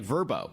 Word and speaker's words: Vrbo: especially with apps like verbo spelled VRBO which has been around